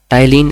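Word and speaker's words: ptyalin: टाइलिन enzyme, P silent होता है, इसमें पी होता है पर बोलने में साइलेंट होता है।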